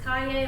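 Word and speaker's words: Cayer: My last name is spelled C-A-Y-E-R, but it is pronounced Kaye, like yippee-ki-yay.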